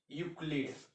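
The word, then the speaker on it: Euclid: के बाद यू आएगा सीधे यू ही प्रोनाउंसिएट करेंगे, मैक्सिमम लेवल पे यही होता है। जैसे आपको बता रहे हैं यूक्लिड, यू सी एल आई डी, यूक्लिड आया ना, यूक लीड।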